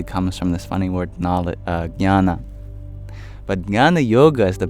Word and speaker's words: Jnana: Jnana means knowledge. And in fact, that funny sound at the beginning, nya, nya, it's a J next to an N.